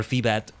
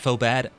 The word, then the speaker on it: Phobad: I always remember how to say their name by saying, this is foe, the foe is bad, foe bad. Yeah, I figured that's it right there.